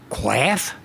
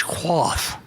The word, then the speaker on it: quaff: I said, quaff? That's quaff. But it's quaff, so it rhymes.